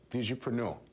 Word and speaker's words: Digipreneur: What's your pronunciation? You got it, the Digipreneur. Digipreneur.